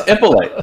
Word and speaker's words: Ippolite: How do you say my name? Ippolite. Can you not say my last name? No. Are you serious? Every time I say it, I always say it wrong. Say it again. Ippolite. You're making it harder. It's Ippolite. Ippolite.